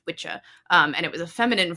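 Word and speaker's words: wicce: So, the original word for a woman who practices sorcery or witchcraft was spelled W-I-C-C-E, pronounced witcha, and it was a feminine form of witchaw,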